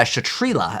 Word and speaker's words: Kshatri-La: thing all right so let's check out the uh chatrila i believe how it's pronounced so anyways let's get